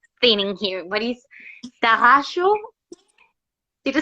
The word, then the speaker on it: Tarraxo: Yes, Tarraxo. You can say it like that. You can say it exactly like you want. You can also do it with your Spanish. Tarraxo. It's okay. I say Tarraxo.